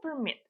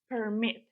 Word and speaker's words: permit: буде від відрізнятись вимова якщо це іменник ми наголошуємо перший склад Permit Permit I need to get Permit якщо це дієслово ми наголошуємо другий склад Permit please Permit me або to